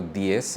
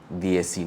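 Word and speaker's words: diez: gave me to these so for DS It's not DS but it's rather like th so DS and 12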